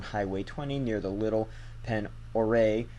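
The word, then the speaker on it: Pend Oreille: 20 near the Little Pen Oreille. I think that's French. And I've been told that's how you pronounce it. I could be wrong, though.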